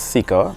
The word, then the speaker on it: SeeKR: So it means, obviously it's seeker, what it sounds like, but it also means see, kingdom, righteousness.